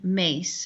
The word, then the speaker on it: Myss: at the site of carolyn mace is somebody i've actually met in person her name is spelled m-y-s-s and her website is